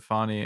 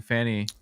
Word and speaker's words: Fani: that she was literally asking people to pronounce it Fani, and I just couldn't take it seriously. I had to retake video clips because I kept saying Fanny on camera.